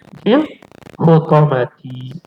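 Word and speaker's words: في الحطمة: Al-hutoma tu ta'ti dibacanya fil hutomati.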